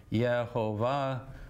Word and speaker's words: Jehovah: me from the womb if you wonder why i say jehovah because i think it's a better pronunciation even though everyone on earth disagrees with yehovah will is was the